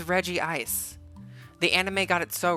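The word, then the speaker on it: Regice: Pokemon's name Reggie ice everyone was like that's re ice and I think the anime animi the anime even was pronouncing his name wrong um I'm pretty sure it's Reggie ice it's Reggie ice the anime got it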